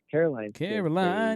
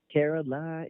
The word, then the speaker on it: Caroline: But I have definitely seen that, and of course, when they start getting older, like Joe and Caroline, you said it wrong. Caroline.